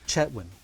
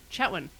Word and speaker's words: Chetwynd: Although, Kathleen lived in Chetwynd but she pronounces the D on the end, Huh. which is very weird as a northern BCer to me. Yeah. Chetwin. Yeah, Chetwin.